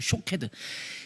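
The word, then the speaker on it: שֹׁקֵד: 그런 것처럼 사용된 단어가 샤케드라는 말과 더불어는 쇼케드라는 말, 쇼케드. 샤케드, 샤카드, 쇼케드 다 모음은 똑같은데 여기에 점을 어떻게 찍느냐에 따라서 발음이 달라지는 거예요.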